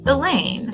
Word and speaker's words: Elaine: or any class, and Elaine, rhymes with pain.